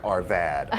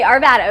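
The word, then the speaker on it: Arvada: They said ar They said ar uh vada arv bad like bad like bad like Arvvada. Arvad bad. Okay. Arvvada.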